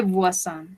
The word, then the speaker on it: voisins: Ils son tes voisins. Ellos son tus vecinos. Tes voisins. ¿Qué pasa acá? Acá ya tenemos una palabra plural, voisin. No pronunciamos la última S, no la pronunciamos, pero sabemos que hace referencia a vecinos.